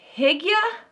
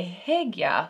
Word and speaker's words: hygge: But I think a few of you say hig-yuh, hig-yuh. I think that's right. And we've gone back and forth, and it might just be my Southern accent. I have to like focus to say hig-yuh, hoo-gah.